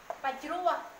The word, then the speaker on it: Pachrua: Pachrua, chrơ, chữ này này mình đọc là chữ chrơ.